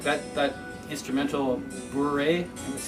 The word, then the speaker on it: bourrée: Like that instrumental bourrée, that's how you pronounce it.